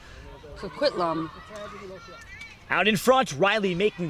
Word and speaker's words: Coquitlam: I believe I'm pronouncing it correct, Coquitlam. Coquitlam.